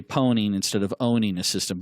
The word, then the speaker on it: pwning: And so it's become a joke in the industry that we pronounce it, or we say pwning instead of owning a system.